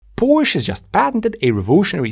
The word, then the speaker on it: Porsche: we get started uh Porsche some people say you should be pronouncing it the original German Way por H to mind por Gaz in and they're very strict about this now I personally believe it's more important that we understand each other rather than how somebody pronounces something and although I'm not American it's easier for me to say Porsche and it's my video so I'm going to be saying it Porsche for the rest of